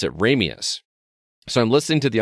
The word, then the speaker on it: Ramius: perspective he pronounces it ramius but when he pronounces it from the Russian perspective he pronounces it romius dude that's an awesome